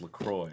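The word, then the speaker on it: LaCroix: terrible on their website they say it's pronounced lacroy I'm sure' be someone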